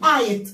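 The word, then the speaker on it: eight: عارفين ان الجي والاتش دول مش بيتنطقوا، وبنقول المقطع ده على بعض اي جي اتش تي. اول ما اشوفه كده اقول ايت، اقول ايه؟ ايت زي ايت.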